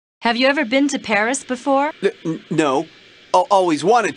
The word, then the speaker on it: Paris: capital of france before yeah well the locals pronounce it paris carmen's conducted a lot of criminal activity here